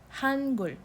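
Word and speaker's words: 한글: Has two syllables, H-A-A-N, Han, and then it has the other syllable, which is Gul, the G-E-U-L, Gul, Hangul.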